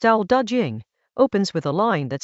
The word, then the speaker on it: Dao De Jing: Chapter 56 of the Dao De Jing, pronounced Dao De Jing, opens with a line that stops you.